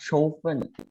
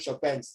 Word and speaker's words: Chopin: It's pronounced Chopin. Isn't it pronounced Chopin? Ah. Sorry again? Isn't it pronounced Chopin? Oh, Chopin, correct. Chopin. Yeah, Chopin, not Chopin. Chopin. That is a French word pronunciation.